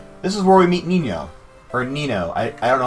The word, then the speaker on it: Nino: This is where we meet Nino. Or Nino. I don't know how it's pronounced. I pronounce it Nino because of the Spanish pronunciation.